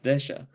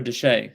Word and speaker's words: Desha: outgoing governor which was joseph disha or deshay sorry the shay i believe is how you pronounce it um uh he refused